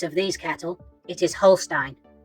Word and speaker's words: Holstein: from the Netherlands and in Dutch the uses of e and I or I and E are pronounced according to the second letter e i is pronounced